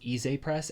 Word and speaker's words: Ize Press: these are from it's I think it's pronounced e press everyone's pronouncing it eyes but I'm pretty sure